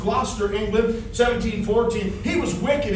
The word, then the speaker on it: Gloucester: He was born in Gloucester, is the way that's pronounced. Gloucester, England, 1714.